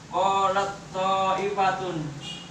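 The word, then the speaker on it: قالت طائفة: Jadi dibacanya qalat ta'ifatun. Jadi ta ini kayak anggap enggak dibaca karena bertemu salah satu, yaitu to.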